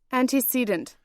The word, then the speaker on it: antecedent: Antecedent. Antecedent. Yes, I have heard that anti. Antecedent. Ante. Antecedent. Antecedent. Antecedent. So Antecedent. antecedent. Yeah, so it's like an ant.